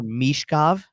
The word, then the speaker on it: Michkov: It's more Michkov. So give it that Mish, like that long E sound instead of less Mitch.